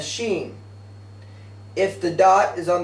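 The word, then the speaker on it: שׁ: in writing the letter if the dot is placed above the letter it's pronounced a Sheen if the dot is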